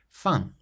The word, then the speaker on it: fin: The next word, which means end, fin, fin.